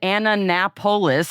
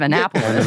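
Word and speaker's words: Annapolis: And then also said Anna Napololis instead of Anapapolis.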